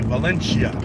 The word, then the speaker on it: Valencia: These fools would say Valencia. but it's Valencia. There's no Italians here, man. It's Valencia, Spanish.